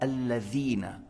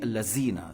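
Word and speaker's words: الذين: vas pas dire za, c'est le va en prenant la langue en haut entre les dents, et c'est pas za comme za en français. Si je prononce pas la lettre val en disant alladhina, si tu dis allazina, ça n'a pas de sens.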